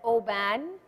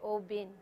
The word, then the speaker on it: Oban: first class is open open also known as Oban however the correct pronunciation is actually o bin by the way it it's very confusing and